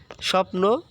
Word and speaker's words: স্বপ্ন: শব্দের শুরুতে রয়েছে হ্যাঁ ব ফলা যদি শব্দের শুরুতে থাকে তাহলে সেটার উচ্চারণ হবে না এই যে দেখো স্বপ্ন লক্ষ্য করো স্বপ্ন স্বপ্ন উচ্চারণ কি হয়েছে এই যে দেখো ব ফলাটা আর নেই হ্যাঁ ঠিক তেমনি ব